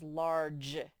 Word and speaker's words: large: say large it says large that e makes the g say je large large ar spells are l large large so what